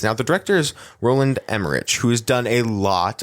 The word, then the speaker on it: Emmerich: Now, the director is Roland Emmerich, who has done a lot of great stuff. Yeah, Absolutely. I saw that. Mm-hmm. And it's pronounced Emmerich, just so you know.